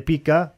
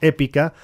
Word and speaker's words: EPyCA: economista y director de Pica Consultores. ¿Cómo te va, Martín? Muy buenos días. Cris Dátola te saluda. Voy a hacer una corrección, es Épica, con acento en la E.